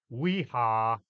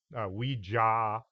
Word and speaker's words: Ouija: spirit in the board how it's pronounced is also Up For Debate weha weeja Ouija even if you mispronounce